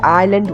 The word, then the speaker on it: island: it was correct okay Island you yeah it's it's spelled Island but you said Island which was absolutely perfect okay so it's an